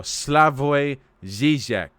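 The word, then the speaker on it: Slavoj Žižek: There we go, Slavoj Zizek. Do you fucking like it when I look up how to pronounce the name Slavoj Zizek?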